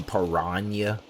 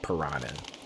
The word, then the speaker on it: piranha: about it is that nobody in the movie pronounced piranha the same. Like there might have might have been one person who actually said piranha. Everybody else pronounced piranha completely different. I remember it was pirania. Perina. Somebody was like piranha.